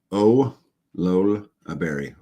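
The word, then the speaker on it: olallieberry: can't say that now it's pronounced o LOL a berry olola berry I have never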